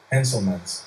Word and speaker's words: Henselmans: Henselmans. So it's just exactly as it's spelled.